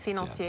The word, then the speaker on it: financier: So it's spelled financier, but if you respect... Financier. There you go. Financier, oui. Right.